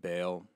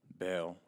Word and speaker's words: Baal: the god of bail so that's how you say it right yeah okay good some see some people say ball some people say yeah bail out whatever you know